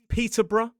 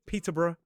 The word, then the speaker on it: Peterborough: So for example, in a modern British RP accent, it could be Edinburgh or Edinburgh, Peterbr. Some may say Peterbr and of course Middlesbrough. Personally, I usually pronounce this suffix as one syllable br.